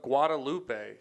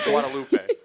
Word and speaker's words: Guadalupe: should be Guadalupe. My abuelita has a friend named Guadalupe, and that's how she says it. Guadalupe. Guadalupe. Guadalupe. Yeah. That's how you say it.